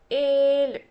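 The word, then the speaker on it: ஏழு: Again, ഏഴ്. I didn't want to put double E and make it as eel. It's ഏഴ്. ആറ്, ഏഴ്.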